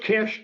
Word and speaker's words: Kiss: technology CST and George Kish k i SS spelled kiss but pronounced Kish he's from Hungary actually